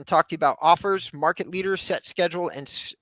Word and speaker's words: Offrs: the next provider on our list which is offers offrs I always get confused on this one John so I'm making sure to spell it for those people and uh this is 200 plus per month offers is a real estate lead generation software designed